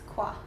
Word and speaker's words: Koo: Welcome back again to the Business Expert Show, and we're here today with Koo, is it? It's Kwa.